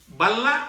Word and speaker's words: balla: Dea ltlfp akap Hai tetapi dalam pengucapan kata huruf k dibelakang itu biasanya tidak dibunyikan Hai nah ke balla atau rumah atau balla